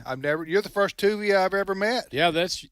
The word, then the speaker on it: Tuvia: hi hey is it is that what how you pronounce your name you got it right tuia okay all right okay